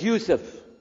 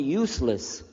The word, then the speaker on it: Yusuf: My name is Yousef. Can you say Yousef? You said Yousef. Yeah. Very good. I wish you teach my wife. She keeps mispronouncing it. She calls me useless.